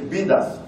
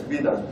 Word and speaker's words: BDAS: sorry for my pronunciation, I hope I pronounce it the right way, is BDAS, not something else, BDAS, BDAS, B-D-A-S.